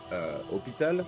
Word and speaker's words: hôpital: No, there is no H sound in the French language. The H is silent. That's why we say hôpital and not hospital.